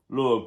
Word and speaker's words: Lugh: Lugh, pronounced Lu, was a sun god.